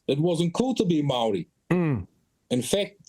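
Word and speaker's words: Māori: wasn't cool to be Mari in fact the way that you pronounce Mari was Mary you know and a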